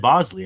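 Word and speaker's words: Boushley: Is that how you pronounce Bushley? I guess so. Yeah, I looked it up and it said Bosley, and I was like, all right, I'll roll with it because it's super easy, kind of like Majinski, right?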